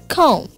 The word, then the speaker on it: comb: Comb. Silent letter only B.